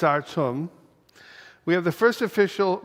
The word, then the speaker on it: Artem: We've also been pronouncing his name wrong. It's Artem.